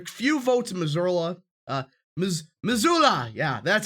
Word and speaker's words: Missoula: votes in there few votes in missouri uh missoula yeah that's how you say it few votes